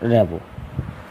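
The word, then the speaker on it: Rimbaud: কে দেখো লেখা আছে ওখানে জো নিকোলাস আর্থার রেভো এই জয় উচ্চারণ হলো আর রেভো উচ্চারণ হলো একটাই কারণে উনি যেহেতু ফ্রেন্ডস পোয়েট উনার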